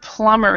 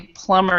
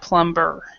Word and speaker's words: plumber: The word plumber here, this B is silent. So we would say plumber instead of plumber.